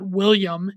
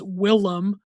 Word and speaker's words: Willem: shit if it autocorrects, his name is not William, it's Willem. Willem is how it's spelled, and I will not stand for people misspelling it without correcting it or mispronouncing it.